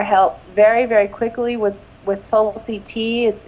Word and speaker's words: Tulsi: Tulsi, is that how you say it? Yes, Tulsi is amazing.